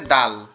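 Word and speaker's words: دال: এটার নাম হচ্ছে দাল। এটার নাম হচ্ছে দাল। এটা উচ্চারণ হবে আমাদের জিহ্বার আগা, সামনের 2 দাঁতের গোড়ার সঙ্গে লাগবে, সামনের 2 দাঁতের গোড়ার সঙ্গে লাগবে, লেগে উচ্চারিত হবে দাল দাল দাল দাল দাল দাল দাল এভাবে।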